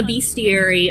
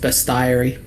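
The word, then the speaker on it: bestiary: Fun fact, I always thought it was pronounced best diary.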